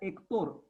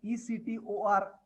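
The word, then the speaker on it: Héctor: If you spell as per pronunciation, pronounce as per spelling, H is silent. So you hear Hector, you may tend to write it down as Ector, which will be wrong.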